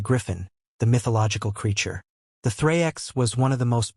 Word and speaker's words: thraex: The thrix, the thraex, pronounced thrikes, represented Rome's most famous conquered enemy.